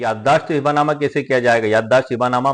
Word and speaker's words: हिबा नामा: ई book का title हिब्बा नामा ही रखा है और मेरे वीडियो का भी टाइटल हिब्बा नामा ही रहेगा, लेकिन इसका सही उच्चारण हिबा नामा है, जो अरबी भाषा का शब्द है।